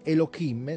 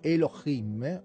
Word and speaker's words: Elohim: il nome correttamente siccome non si dice e lo kim si dice elohim o elohim perché poi